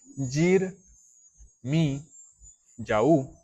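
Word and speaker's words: Yirmeyahu: Entonces, por ejemplo, Jeremías en hebreo, al final, que se escribe Yir, Mi, Yaú, al final lleva ese ya, o sea, esa Y-A-H, así se lee, esa ya, que quiere decir que es el nombre corto del Eterno.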